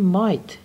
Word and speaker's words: might: خب بیم اینجا من سوال دارم، این مایت جی ایچش هم تلفظ نمیشه، مایت گذشته می هست، می یعنی ممکنه، گذشتهش میشه چی؟